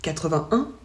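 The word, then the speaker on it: quatre-vingt-un: On ne prononce pas le « et » ici. On dit 81, 91.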